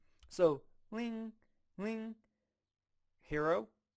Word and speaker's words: 零: So for the first one, 0, this is how 0 is pronounced in Chinese. 零 Ling, ling, to me it kind of sounds like ring.